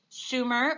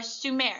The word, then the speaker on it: Sumer: And our smallest area is right here, Sumer or Sumer, and you're going to hear it pronounced different ways.